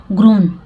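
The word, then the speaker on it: grown: ग्रोन, ठीक है, यहाँ पे देखिए ग्रोन, जब एन के पहले डब्ल्यू हो तो वहाँ पे डब्ल्यू का प्रोनाउंसिएशन नहीं होता है, डब्ल्यू साइलेंट हो जाता है, तो ग्रोन है।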